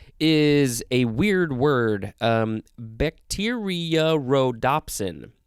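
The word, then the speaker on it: bacteriorhodopsin: a weird word um bacteria rhodopsin bacteria rhodopsin there's a kind of a double o sound in there it is spelled b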